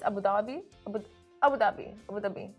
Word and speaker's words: Abu Dhabi: I say Abu Dhabi, but actually, isn't it like... It's Abu Dhabi. Abu Dhabi. Abu Dhabi. Abu Dhabi.